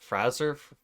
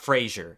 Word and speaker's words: Fraser: for so many years isn't it Brett Fraser not Frasier it's not Frasier yeah that's gonna take